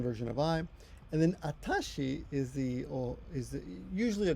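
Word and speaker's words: あたし: what does she and pronounce it atashi and that's I guess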